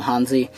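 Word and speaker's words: Hanzee: I believe it's actually pronounced Ohansi, but everybody calls him Hansi.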